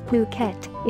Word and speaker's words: Phuket: beautiful tropical island of phuket fortunately pronounced as phuket is frequently and justifiably